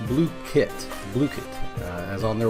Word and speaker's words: Blooket: unique take on trivia and review games called blit now I know it looks like blit but it is pronounced blue kit blit uh as on their website so what